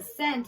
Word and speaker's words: cent: And cent has that soft C followed by the lookout letter, C-E.